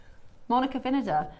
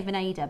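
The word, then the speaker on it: Monica Vinader: Monica Vinada. That's how you're actually supposed to pronounce it. A lot of people say Venada, but it is vine.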